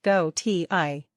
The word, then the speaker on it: Gautier: make it more interesting the band Gautier pronounced go t i is a re-spelling of the French surname galtier sometimes this isn't a